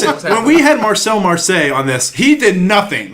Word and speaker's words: Marseille: Marseille is a city in France, so you're off by one syllable.